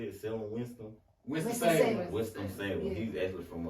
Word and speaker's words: Winston-Salem: Winston-Salem.